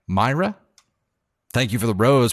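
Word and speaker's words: Maira: the money gun uh I almost said Maria and I think I said your name wrong earlier m-a-i-r-a Myra thank you for the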